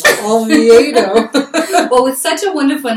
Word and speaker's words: Olviedo: Olviedo. Oh my gosh. But Olviedo. Okay. It's kind of like, I'll have a V8, please. Olviedo.